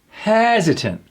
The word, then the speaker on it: hesitant: Hesitant. Unsure or slow to act due to uncertainty. And what happens to that T? Gone.